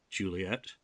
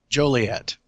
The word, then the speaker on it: Joliet: Illinois, which, of course, has a city called Juliet. Yes. I don't know. Is that how you pronounce it? I'm not a Midwestern guy, so. Joliet.